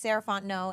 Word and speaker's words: Sarah Fontenot: again my name is saranto and you can find me at M saraon no so Ms s a r a h fo o n t n o t the t is silent um that's me on